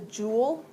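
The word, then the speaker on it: joule: of energy is the jewel the abbreviation is a capital J uh it's it's a French word but it's pronounced Jewel like you would have a jewel in a crown so that one's important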